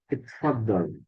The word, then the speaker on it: اتفضل: Malah bukan di apa nih kalau lihat bacaannya di sini bukan di tasdid tapi di sukun. It, fadhal.